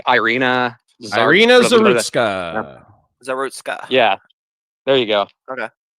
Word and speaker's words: Zarutska: I don't know how to pronounce her name though, because I don't speak Ukrainian. It's like Irina Zarutska. Zarutska.